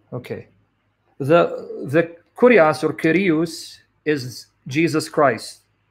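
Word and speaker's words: κύριος: Kyrios, Kyrios, Erasmian pronunciation, according to verse 4.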